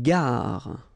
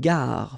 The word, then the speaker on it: gare: Une gare. Okay, remember when you get this G and A together, the sound is g, ga, ga. Une gare. Final not pronounced. Une gare.